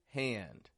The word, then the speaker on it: hand: one because this has two examples of that American twang count c u n t count and hand hand hey we've got a wide a a it's f followed by a nasal sound we make that little transition a he